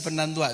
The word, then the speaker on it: Fernandois: Después me acostumbro a decir Fernandoy y digo Fernandoy y me dicen, no se dice Fernandoy, se dice Fernandois.